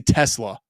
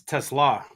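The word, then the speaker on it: TeSlaa: Uh, I I want to say Tesla, but I know that's not right. Uh, Thor, tell me how to pronounce this dude's last name. You got to put some English on the end. It's Tesla. Tesla.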